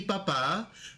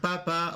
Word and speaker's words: papá: As you can see here, we have mi familia, we have mi mamá, mi papá. Remember, it's not mama, it's not papa.